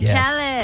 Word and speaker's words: Khaled: DJ Khaled.